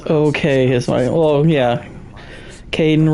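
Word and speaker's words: Kaidan: okay his well yeah Kaden rhymes with gayen so keep it low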